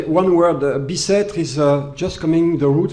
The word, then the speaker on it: Bicêtre: Bicêtre is just coming the route from Westminster, because